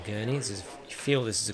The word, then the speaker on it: Gurney: treble for four minutes so not gilet by the way which is how it was being pronounced by uh the announcer earlier to get an off